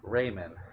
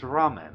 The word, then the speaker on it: ramen: pronounces it Raymond. Raymond. Izzy, if you're listening, you're probably going to watch this later. It is not Raymond, it is ramen.